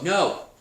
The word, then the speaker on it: know: no there's the no no but there's another word called no when something is in your brain and strangely that starts with the letter k it's a silent k so the next place